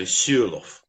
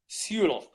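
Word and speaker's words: Sørloth: Alexandra Suloff. Is that correct? Sure. Suloff. I was told by a Norwegian that the O is pronounced like a U. So Suloff. Suloff.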